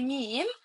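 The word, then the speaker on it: meem: You should know how to pronounce the meme and how to pronounce the noon. To pronounce the meme, pronounce with me. Me moo. Me. Yeah. Yeah. I pronounce the meme from my lips.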